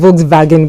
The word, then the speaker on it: Volkswagen: it's supposed to volag yeah supposed to be Volkswagen because for the Germans the W represents the